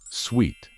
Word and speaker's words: suite: To begin with, let's not confuse this one with the word suit, which is a set of clothes to be worn for a particular activity. On the other hand, this word means either a set of rooms for a particular purpose or a set of programs with a uniform design. And this one should be pronounced as suite.